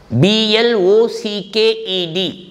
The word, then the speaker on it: blocked: five letters t y p e d is pronounced as typed then blocked blocked the road is blocked by the agitators b l o c k e d blocked so in all these words ending with